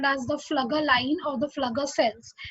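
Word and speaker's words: Pflüger: Okay, so this particular line is called as the Flugger line or the Flugger cells. It starts with a P, but the P is silent over there.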